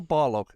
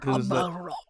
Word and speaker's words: Barlog: I always do that. Corey Barlog. I wish it was Balrog. Barlog. I don't want it to be. I can't get past it. That's why I always get his name wrong.